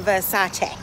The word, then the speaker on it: Versace: correcting people because people could say it's versace i'm like okay when i do go to the palazzo versace i will make sure i say it right so if you're italian you know the pronunciation you need to the pronunciation you need to get it right it is a versace okay let's keep it